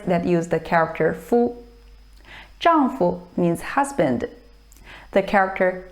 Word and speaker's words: 丈夫: Note that in 丈夫, fu is pronounced with the neutral tone. 丈夫, 丈夫, husband.